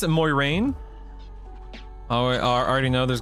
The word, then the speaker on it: Moiraine: Moiraine is how it should be pronounced. I believe must say Moiraine though. Yeah, Moiraine.